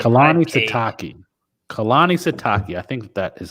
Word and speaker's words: Sitake: Kalani Sitake. I think that is how you pronounce his name, the head coach at BYU.